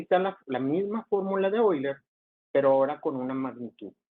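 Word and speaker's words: Euler: la fórmula de hoy les asiste pronuncia porque está alemán siempre que tengan palabras en alemán donde esté la e y la 1 se pronuncia hoy hoy entonces en algunas clases van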